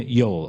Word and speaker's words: Yoel: of Monroe is Kiryah Joel. Kiryas, which is a Yiddishization of the word Kiryat, which means village of, and Joel is actually, interestingly, an English pronunciation of his name, Yoel, or Yoelish, or Yoeli.